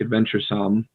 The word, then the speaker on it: adventuresome: be like psalm like adventure some but it's more more like some like with a u almost for english like adventuresome